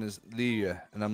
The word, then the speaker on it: Liyue: Yeah, it's funny because when we first started doing it, they were like, all right, the pronunciation is Liyue.